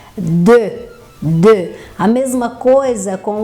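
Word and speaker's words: deux: Terceiro é o número 2, que a gente pronuncia de. Existe uma tendência, não sei porquê, dos alunos falarem do, que não tem nada a ver, né? Que seria meigo, seria doce. Então, é de.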